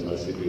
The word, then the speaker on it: Mashpee: We say Mashpee Wampanoag, but it's Mississippi Wampanoag in our true pronunciation.